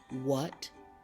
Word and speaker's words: what: learning potential is Limitless the H is also silent when it is followed by the W here are some words that you will see a lot in the English language what when where and why notice that the age is silent in those words you only hear the dou sound there is a slide